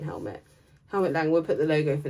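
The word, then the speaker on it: Helmut Lang: Hermit Lang, I always say his name wrong, don't at me. Helmet. Just keep going. Helmet? Just keep going, Toots. Helmet. Say it. Helmet Lang.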